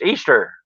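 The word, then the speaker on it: Eostre: Her name is pronounced Easter, and that's Mm. where you get Easter from.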